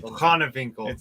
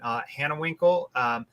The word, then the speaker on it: Hanewinckel: How do I pronounce the last name? Hanewinckel.